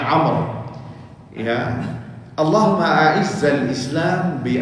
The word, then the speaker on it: Amr: Karena Amr itu sama aja dengan nama Umar. Ya, mirip, cuman ada wawunya di belakangnya, jadi dibacanya Amr.